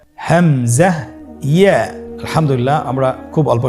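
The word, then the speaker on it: همزة: হামজা হরফটি উচ্চারণ ক্ষেত্রে বারিক করে উচ্চারণ করতে হবে এবং এখানে টেনে পড়া যাবে না, দ্রুত পড়তে হবে। আপনারা আমার সাথে বলুন হামজা। হামজা।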